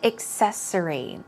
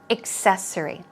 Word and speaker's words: accessory: take a look at the first vocab word accessory accessory actually it's not really excel but more of a cake accessory accessory okay accessory some synonyms are adornment or ornament